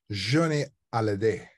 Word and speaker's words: Johnny Hallyday: Johnny Hallyday. Johnny Hallyday. Accent on the day. Hallyday.